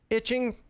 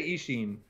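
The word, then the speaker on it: Eachine: So this is the Vanguard from, how do you say it? Itching? I say Ishin. Ishin, okay.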